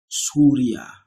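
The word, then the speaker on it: سوريا: Ana min Suria, this is Syria, that is spelled this way, Syria.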